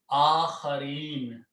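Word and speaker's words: آخرين: Akhareen.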